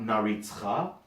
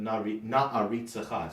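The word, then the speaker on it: נַעֲרִיצְךָ: So in other words, not naritzcha, but na'aritzecha. So all the ayins and alifs have their glottal stops, and all the shvas,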